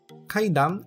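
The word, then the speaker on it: 階段: seguindo com o vocabulário a palavra é cidam cidam kaidan é escada sempre com o cuidado de pronunciar a última sílaba a sílaba cidam a seguir temos a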